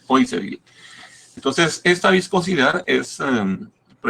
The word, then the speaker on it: Poiseuille: Se escribe Poiseuille, pero se lee Poiseuille.